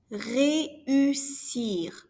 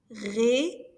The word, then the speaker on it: réussir: Réussir, to succeed. There are 3 syllables in this one. Réussir, to succeed.